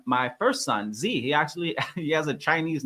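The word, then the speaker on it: Zhi: And that actually is what inspired me to name my first son Z. He has a Chinese name, and his name is spelled Z-H-I, and it stands for purpose and will.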